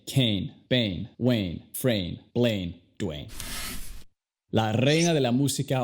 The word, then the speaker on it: Dwayne: Luego el nombre, Dwayne. Dwayne. Primero tenemos una D y luego se dice Way, como un mexicano.